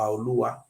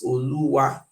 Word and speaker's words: Olua: Here states a Radeva book stated very clear that the original pronunciation is Oba Olua, and even put the meaning here. This meaning is a owner of wealth. Oluwa.